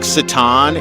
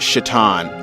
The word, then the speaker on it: Citan: Just like Citan in Xenogears, people see the C-I-T-A-N and they pronounce it Citan. And other people pronounce it Shaitan. Like, because of different regions, they see a C-I and use the S-H pronunciation. And other regions see C-I and pronounce the C as an S, which it's funny how nobody ever pronounced it Kitan.